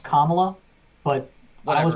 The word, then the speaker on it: Kamala: uh kamal harris and apparently her name is pronounced kamala but i was pronounced at kamala because kamala khan but whatever um elizabeth warren